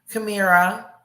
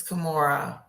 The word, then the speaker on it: Kimura: I want to thank both JD and also I keep saying her name wrong and it just sucks. Kamira. It's Kimura.